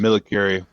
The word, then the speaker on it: millicurie: The shipment, which contained .276 millicurie, is that how it's pronounced? It's a millicurie.